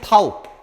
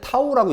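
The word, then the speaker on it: τ: 읽을 때는 타우. 읽을 때는 타우라고 읽습니다.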